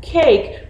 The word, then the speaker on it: cake: egg say hey let's meet the word ooh hey what's the word okay what's the word cake remember the e is quiet the e is silent the eat does it